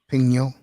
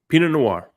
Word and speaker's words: Pinot Noir: How do you pronounce it? Which one? Pignot. Pinot Noir.